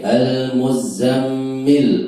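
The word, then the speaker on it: المزمل: Ya ayyuha wahai Ya ayyuha wahai al-muzammil, orang yang berselimut. al-muzammil, orang yang berselimut. Ya, za dan mim sama-sama ditasydid, tapi cara bacanya beda. Za dibacanya cuma 2 ketukan, mim dibacanya lebih dari 2 ketukan.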